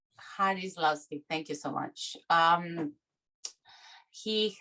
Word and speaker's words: Jarislowsky: Am I pronouncing correctly? Jarislowsky, thank you so much.